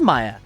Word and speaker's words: Maya: Okay, it is Maya. Have I said Mia? I just said Mia when I said it a second ago. But I feel like I've always said Maya.